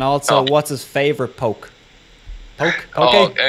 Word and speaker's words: poke: Poke. In Hawaii we pronounce that poke. Poke, yeah. So, like, but everybody, that's what they say, because straight across poke.